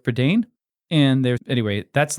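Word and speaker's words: Prydain: read his pradane Chronicles I hope I said that right for Dane I think when I was it was a reading word for me growing up no one taught me how to say it and I said prydon but that obviously sounds dumb so I'd go with perdain and there's anyway that's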